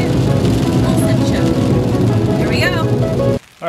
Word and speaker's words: Mont Saint Michel: Mont Saint Michel.